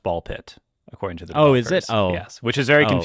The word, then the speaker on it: BALL x PIT: Yeah, it's it's canonically pronounced ball pit according to the Oh, is it? Yes. Which is very confusing considering the X in the middle. Ball X pit.